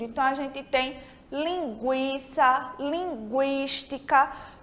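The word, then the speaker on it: lingüística: Então, a gente tem linguiça, linguística, porque a gente está pronunciando esse U, tá certo?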